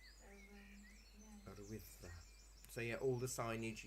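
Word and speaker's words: Yr Wyddfa: They've now made it law that Snowdon is now only to be known as Urwyddfa, its original Welsh name.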